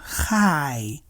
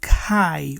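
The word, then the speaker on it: חי: They pronounce it as Chai. Chai. The Chet, it's written using two consonants, right? The Chet and the Yud. The Chet can have the KH sound. Thus, Chai can be pronounced Kai or Ka.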